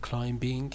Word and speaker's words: climbing: Okay, again, the only problem was he said climbing, it's climbing. Okay, climbing. Yeah, no B.